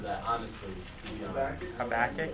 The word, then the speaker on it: Habakkuk: So, someone turned to, I always mispronounce this book of the Bible, I'm sorry. Habakkuk?